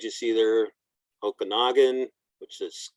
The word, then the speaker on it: Okanagan: the other tribal folks names you see there Okanagan which is okanakan Umesh Spokane the old name for Spokane's is